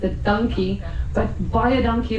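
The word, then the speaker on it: dankie: thank you very much, we say buy a donkey, which is spelled D A N K I E, but it sounds like purchase an ass.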